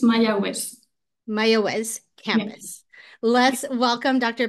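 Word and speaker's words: Mayagüez: probably pronounced that incorrectly how how do I pronounce that Jimmy it's mayz mayz campus let's welcome Dr Bennett and jamy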